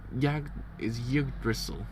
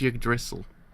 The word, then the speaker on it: Yggdrasil: So it's YGGDR. So it's Yggdrasil. Yggdrasil. Yggdrasil. That's it. Yggdrasil. I think it's how you actually sort of pronounce it, maybe? I'm not too sure.